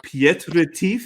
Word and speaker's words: Piet Retief: take our audience all the way back to pietrez is that how i pronounce it yes south africa tell us about